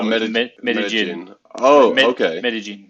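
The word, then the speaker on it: Medellín: Medellin, it's called. Medellin. Okay, I just So butchered that name. double L in Spanish is J.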